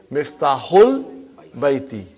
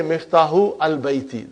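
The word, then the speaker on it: مفتاح البيت: Because al, remember that Hamza is Hamzatul Wasal. If it is in the middle somewhere, we assimilate it. We don't pronounce it. So you will say Miftahul Baiti. You cannot say Miftahu al-Baiti. That will be wrong.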